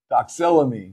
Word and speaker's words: doxylamine: are the Unisom the dicyclomedaya dicyclomine I always pronounce that word wrong doxella me there you go um now be careful Unison